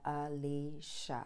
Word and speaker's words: Elisha: the most sense because everyone has all kinds of wild ways to pronounce his name so i am going to take from what i learned from this man and pronounce it alicia we learned about elisha's